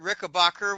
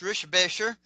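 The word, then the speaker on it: Richebächer: I've actually met Kurt Rickenbacker, which is actually pronounced Rischbecher.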